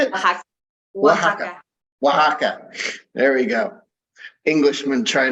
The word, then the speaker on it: Oaxaca: occur oh actually how do you say it Oaxaca there we go Englishmen trying to learn Spanish